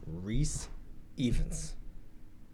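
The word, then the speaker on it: Rhys Ifans: I hope I'm pronouncing his name right, but I believe his name is pronounced Rhys Evans.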